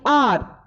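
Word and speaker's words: hour: Now, there are certain words which begin with consonant letters but are pronounced with the vowel sound. How important and interesting. For example, an R.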